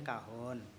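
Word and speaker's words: cajón: di situ saya kenapa Oh ternyata dari bahasa Spanyol atau mana gitu kan kok bacanya kahon Ya sama-sama di cuma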